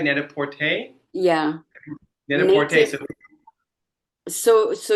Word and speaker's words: Net-a-Porter: We work with Net-a-Porter. Am I saying it right? Net-a-Porter?